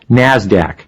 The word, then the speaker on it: NASDAQ: Today's big two stock markets are the New York Stock Exchange, NYSE, and the NASDAQ, which is pronounced NASDAQ.